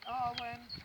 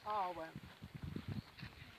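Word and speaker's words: Awen: So the Arwen is said in 3 syllables, which is Ar, or, Wen, stretched out.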